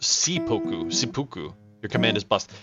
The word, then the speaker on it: seppuku: It's pronounced Seppuku.